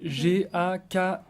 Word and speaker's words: Gakishi: Et Gakishi, c'est Gakichi. Ouais, à ne pas confondre.